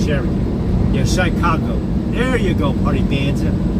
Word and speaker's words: Chicago: I want to try it because that white dude, Shy Congo, yeah. Chirac, Shy Congo, yeah. I don't put the UE. I just spell it out CHIRAQ.